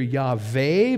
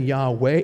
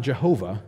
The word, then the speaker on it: Yahweh: It definitely was not Jehovah, because in Hebrew, a four consonant word doesn't have three syllables. It only have two. And there is no J in biblical Hebrew, so it couldn't be Jehovah.